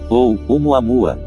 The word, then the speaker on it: ʻOumuamua: Aquele sinalzinho acima do oquina não é uma vírgula nem um enfeite. Ele marca uma pausa rápida na garganta. Então em havaiano, o correto é pronunciar algo como ou o Muamua. Essa breve pausa é o som da pausa glotal do Oquina.